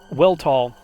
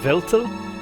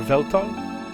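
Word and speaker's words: Weltall: Weltal is how I pronounced it when I first played this game. I believe Veltel or Veltal is more appropriate.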